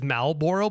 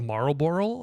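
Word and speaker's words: Marlboro: People say it is malbor, but you spell it as marboral. I mean, I think it's marboral, right?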